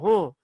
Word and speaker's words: है: பட் வந்து இட் is better to learn high only, not ஹ.